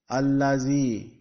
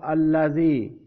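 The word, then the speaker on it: الَّذِي: again with ayah 4, you will have to pronounce zabar on the alif.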